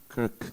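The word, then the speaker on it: Krk: LNG terminal in Kirk is correct. Kirk it's a little bit difficult to pronounce K R K. Kirk Kirk and the link between Western Balkans EU enlargement and the Trices geography.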